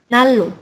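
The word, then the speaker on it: 난로: Kemudian ini nan ro, jadi nalo seperti itu.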